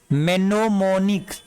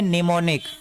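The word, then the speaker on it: mnemonic: आप कहेंगे सर मेनोमोनिक, तो मेनोमोनिक नहीं। यहाँ पे देखिए मैंने आपको बताया है कि एम के ठीक पहले एम हो या एम के ठीक बाद एन हो तो एम वर्ड साइलेंट रहता है। तो इसका मतलब हम यहाँ से इसको पढ़ेंगे, यहाँ से पढ़ेंगे यहाँ तक। तो क्या है NEMONICS, यानी इसको पढ़ेंगे निमोनिक।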